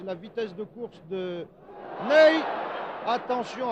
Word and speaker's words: Ney: Cela s'écrit comme notre maréchal, Ney, mais ça se prononce Ney, Ney, que voici sur